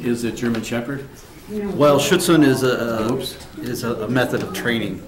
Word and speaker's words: Schutzhund: I can pronounce it for you, David. I would appreciate that. Yeah, it's United Schutzhund Clubs of America.